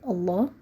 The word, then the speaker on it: Allah: so the word Allah is gonna be light two so it's gonna